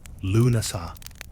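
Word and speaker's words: Lughnasadh: Lugnasad, pronounced Lunasa, a Celtic festival honoring Lu, god of light, craftsmanship, war.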